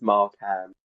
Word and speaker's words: Markham: And by the way, it's Markham. Do you know, No, just before this, I actually asked him how to pronounce it, and then I've messed it up.